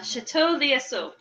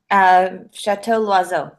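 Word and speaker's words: Château L'Oiseau: going with today was Chateau Liesseau. Did I say that right, Michelle? Let me see. I'm trying to learn French. It's spelled L and then a little apostrophe OISEAU. Chateau Loiseau.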